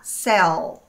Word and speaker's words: cell: E cuidado para você não eh se se escorregar e esquecer de que o a letra L em inglês, ela tem que ser pronunciada com a língua no céu da boca.